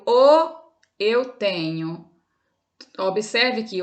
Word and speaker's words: ho: verbo ter e o o eu tenho Observe que o é escrito com h n h o mas o h no início de palavras como no português é mudo né como a tela